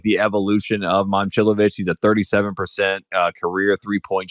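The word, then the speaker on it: Momčilović: Last year was Momcilovic. And we've now come to figure out that it's Momcilovic.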